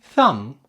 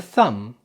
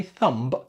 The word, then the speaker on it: thumb: And this is the thumb. The thumb. Notice that the B is silent. Don't say thumb. Thumb.